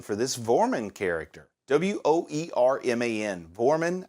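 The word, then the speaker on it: Woerman: Vorman, I think is how you pronounce it.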